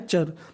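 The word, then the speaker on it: ture: टी यू आर ई अगर आपको English में कहीं पर टी यू आर ई लिखा मिले तो आपको उसका उच्चारण करना है चर तो मीनिंग बनी फ्यूचर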